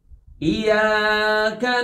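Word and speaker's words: إِيَّاكَ: Iya, itu ada tasdid, maka pastikan kita baca dengan cara mendabelkan huruf ya secara lembut. Iyyaka na'budu, iyyaka na'budu. Oke, tasdidkan dengan suara lembut dan panjangkan ya dengan kadar yang sesuai, yaitu 2 ketukan.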